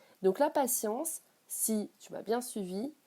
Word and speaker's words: patience: Et dans science, même si ça s'écrit T-I-E-N-C-E, on le prononce, le mot, comme celui de la science, avec un S. Ça prend la même sonorité. Donc la patience, si tu m'as bien